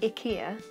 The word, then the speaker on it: IKEA: So I'm currently doing a project which has been set up by IKEA, although I've just found out that that's pronounced IKEA instead of IKEA. We're all saying it wrong.